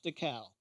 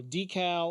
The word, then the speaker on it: Dekal: name is jeff decal d e k a l jeff decal or d cal or how you want to pronounce it uh whatever makes it